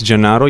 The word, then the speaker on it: Gennaro: It's not a really easy name to pronounce. By the way, my name is Gennaro.